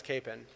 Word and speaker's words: Kapaun: of wichita and there i think most people know him as capen and i think that's why it's stuck in the wichita area now the story is supposedly that his mother had passed down that originally when his father emigrated from the czech republic it was kapaun but people just called him capen and so they went with it now you talked to